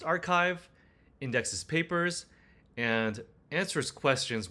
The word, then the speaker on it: arXiv: It searches ARXIV, pronounced archive, indexes papers, and answers questions with citations.